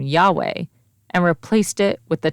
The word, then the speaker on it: Yahweh: sounds were not recorded debate surrounds the pronunciation of the name however most Hebrew Scholars would agree that it is Yahweh our founder Jim Hutchins